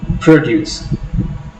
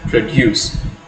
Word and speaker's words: produce: Produce, when you are stressing the first syllable, when you are putting an accent over O, produce, it refers to the noun.